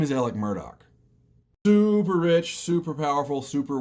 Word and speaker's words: Murdaugh: this is the South and everyone has bizarre pronunciations to their various other names, his name is Alec Murdaugh.